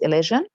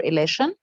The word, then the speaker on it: elision: pronunciation which is says which is elision okay or election both pronunciation are right so let's would watch